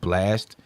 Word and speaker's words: Blxst: The dude Blast, that it's spelled BLXST, but it's pronounced Blast.